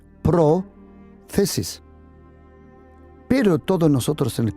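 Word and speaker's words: πρόθεσις: Porque esa palabra en griego se pronuncia prothesis.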